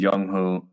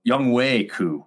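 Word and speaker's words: Younghoe Koo: yep uh yeah and youngho young way cou is how to pronounce it okay young way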